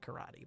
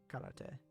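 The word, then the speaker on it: 空手: In English, we call it karate, but it's karate in Japanese.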